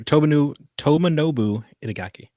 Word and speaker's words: Tomonobu Itagaki: I am going to mispronounce this. Tomonobu Itagaki. Yeah, I like you had an extra U there. Tomonobu Itagaki.